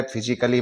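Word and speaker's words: physically: रहा है तो स्टूडेंट्स यहां ए को हम साइलेंट कर देंगे और इसको हम म्यूजिकली पढ़ेंगे इसी तरह फिजिकली में ए डबल एल वाई आ रहा है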